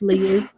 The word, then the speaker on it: Liu: They probably say Lou because, let's be honest, they don't understand. It's Chinese. It's pronounced Liu.